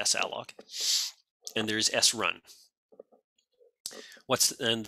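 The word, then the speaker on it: salloc: I pronounce it saloc.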